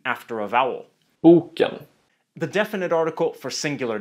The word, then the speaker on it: boken: In tone 1, boken, meaning the book, and in tone 2, boken, meaning overripe or spoiled, regarding fruit.